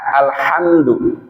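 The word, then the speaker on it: الحمد: Alhamdulillahi rabbil alamin, pakai ha, alhamdu. Artinya segala puji bagi Allah. Alhamdulillah. Pakai ha, alhamdu, segala puji. Tapi kalau bacanya pakai ha, alhamdulillahi rabbil alamin.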